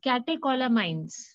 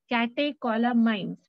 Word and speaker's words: catecholamines: It's catecholamines. Catecholamines. Please pronounce now.